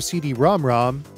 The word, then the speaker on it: CD-ROM²: release of cotton for the pc engine super cd rom rom and yes that's how it's pronounced success beep and island games have brought